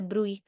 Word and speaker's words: bruit: has been called as bruit. A lot of different pronunciations, not really sure how the correct pronunciation is. My professor said it's a bruit, so I'm going to call it that.